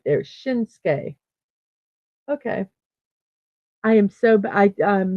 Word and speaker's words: Shinsuke: Oh, it's typically pronounced Shinsuke. So right there, Shinsuke.